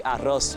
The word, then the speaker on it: arroz: And sometimes we don't say the S. Like we don't say arroz, we say arro.